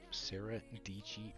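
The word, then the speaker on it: Sara Dietschy: and Vlog stuff oh Sarah dichi rhymes with peachy was in that Peter McKinnon Casey neistat little group for a little bit but yeah the peach banshee 22.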